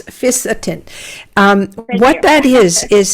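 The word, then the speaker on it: fisetin: have a product with and i'm not sure if i'm pronouncing this correctly uh fiascon it's f-i-s-e-t-i-n yes by uh no it's fisatin um what that is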